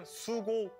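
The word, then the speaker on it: 수고: Oh, GG can but use Korean sugo.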